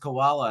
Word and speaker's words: Cawalla: just that name though my last name is pronounced koala and I'm a marsupial and you're Pleasant so